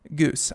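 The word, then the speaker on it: Geuss: on that one Megan goose I'm betting it's couscous but with a G so making news I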